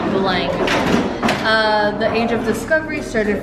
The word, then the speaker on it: Belém: It's spelled with an M, but it's pronounced NG, Belang.